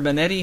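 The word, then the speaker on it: Banette: And he's got Bennett, or Benetti, however you want to say it. I pronounce it Bennett because it's supposed to be a marionette.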